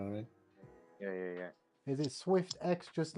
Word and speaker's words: Swyftx: Oh, SwiftX.